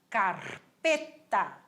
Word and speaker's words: carpeta: Se chama carpeta. Carpeta. Olha o R vibrando de novo. Carpeta.